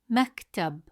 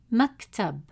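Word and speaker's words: مكتب: Maktub. Maktub. Did you notice the short pause in the middle? That's a sukun on the letter. It holds the sound in place. Say the word again. Maktub.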